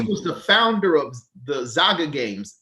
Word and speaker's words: Zynga: His last name is spelled SCHIERMEYER. All right. So, but Eric, he was part of Zyga Games, ZYNGA, Zyga Games.